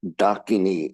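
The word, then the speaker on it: ḍākinī: an added complication of there's a little dot under the D. So it's Dakini. And I don't expect any Westerner to pick up on the difference in pronunciation, because that one's rather subtle.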